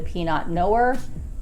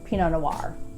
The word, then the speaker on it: Pinot Noir: For those of you that do not know, this is a French name, and in French, in almost all cases, they do not pronounce any consonants at the end of words unless there's a vowel thereafter.